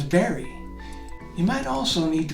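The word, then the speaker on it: Barre: hugee l-e-g-a-r-e is Legree b-a-r-r-e is very you might also need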